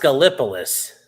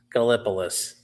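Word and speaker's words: Gallipolis: It's pronounced Galipolus. Yes. Gopouloolis. Galopouloolis. Well, Galipolus.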